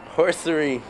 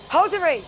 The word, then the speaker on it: hosiery: Steven, pronounce this word correctly. Horsery.